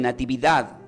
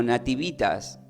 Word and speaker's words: nativitas: O sea, desde el latín se pronuncia como nativitas. Algunos dicen natividad, pero se pronuncia como nativitas, que significa nacimiento, del latín.